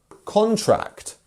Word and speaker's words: contract: Whereas if we actually wanted to put the stress on the first syllable, we would have contract, which is another word with a whole different meaning.